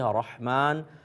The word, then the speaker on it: رحمان: کہیں کہ رحمان کہیں۔ دیکھیں رحمان اوپر سے لے کر آئیں گے اور ہا نکال لیں گے، ہا یہ وسط حلق سے نکلتی ہے، رحمان اور رحیم یہی صحیح تلفظ ہے۔ ایک انہوں نے کہا